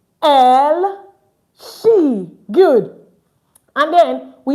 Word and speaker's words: elle: Eel meaning e l please. It's not l. It's not l. No. Why? Because you see this e here. We're not going to pronounce it. It's silent at the end of the word.